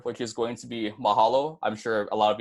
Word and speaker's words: mahalo: our fourth word which is going to be Mahalo I'm sure a lot of you have heard